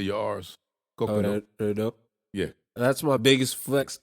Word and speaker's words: Kokoro: Japanese, but the name of the book is Kokoro. Kokoro. And it's the they got nothing to do with that la la. I have no clue what you're talking about. Okay. How you say your R's? Kokoro.